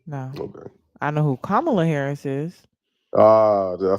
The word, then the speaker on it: Kamala: Am I saying her name wrong or something? I I don't know who that it is. You don't know who that is? No. Okay. I know who Kamla Harris is.